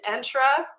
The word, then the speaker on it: Entra: So undertaking that name, Microsoft Entra and I'll also just prop to, it's pronounced Entra like the color magenta or- That's a good way to think about it.